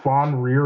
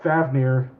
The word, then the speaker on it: Fafnir: okay never mind yeah so that has like uh yeah fafnir like faf in it nir M all right so